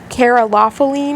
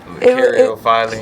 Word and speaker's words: caryophyllene: I can't remember, but it was like carolophyllene or something. Like Caryophyllene.